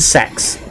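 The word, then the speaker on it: CeX: Welcome to Sex."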